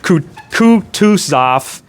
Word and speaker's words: Kutuzov: Kutuzov, and I looked up how to pronounce these, Kutuzov, and then the brothers N and V.V.